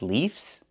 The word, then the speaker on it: leaves: We use the letter V and pronounce it VV plus the S making it Z sound like in zebra.